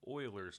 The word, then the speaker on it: Euler: years that it was euler's number but it's actually pronounced euler's number kind of like oil euler okay and that's